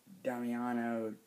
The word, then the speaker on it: Damiano: It's directed by Damiano Damiani? Yeah, that's how you pronounce it.